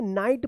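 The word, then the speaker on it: knight: नाइट पढ़ेंगे।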